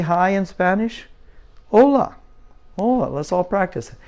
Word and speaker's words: hola: say hi in Spanish hola hola let's all practice hola Coca-Cola oh no not the Coca-Cola that's just to help you remember how to say it hola okay that means